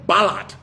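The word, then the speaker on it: Ballard: team to look up a guy called Brian Ballot. Brian Ballot. His last name is spelled B A L L A R D.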